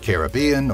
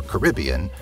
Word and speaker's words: Caribbean: Whether you pronounce it Caribbean or Caribbean, you'll certainly recognize this Disney favorite.